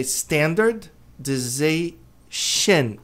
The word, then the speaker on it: standardization: Esse N tem que pronunciar, ser pronunciado corretamente.